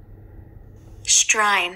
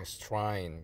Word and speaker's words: Strine: 제 발음이 맞는지 클릭해 보시고 딱 누르시면 Strine. Strine 그렇습니다.